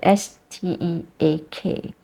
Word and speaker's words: steak: that we eat yeah s t e a k in English it's a diff thong it's stake steak uh the first part is like stay and then with the curse down steak but if you are